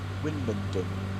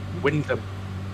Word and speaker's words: Wymondham: Winmondon, or Wymondon it's spelled. Wyndham. Wyndham, thank you.